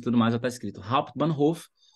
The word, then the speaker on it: Hauptbahnhof: Até a pronúncia já está aplicando aí as regras de pronúncia. Hauptbahnhof.